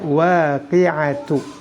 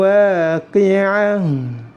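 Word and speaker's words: الواقعة: Tidak boleh dibaca waqi'atu. Idza waqa'atil waqi'ah.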